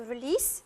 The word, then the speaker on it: release: Synonym of let out, it is to release, with an S pronounced, not a Z, it's a S sound.